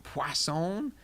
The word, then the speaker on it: Poisson: called poisson disk distribution poisson there's no W in it but I was told that that's how you say it I guess it's French when we use this